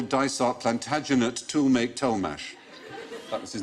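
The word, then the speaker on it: Tollemache: but each half was pronounced differently so he's pronounced to make toe mash Thomas's and they had the longest name of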